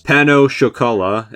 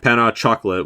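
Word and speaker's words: pain au chocolat: pronunciation guide for this, pano chocolat instead of panna chocolate, which is how I thought it was pronounced, 209 natillas, 208 Napoleon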